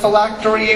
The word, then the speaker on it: phylactery: The word is phylactery. Phylactery. Am I pronouncing that correctly?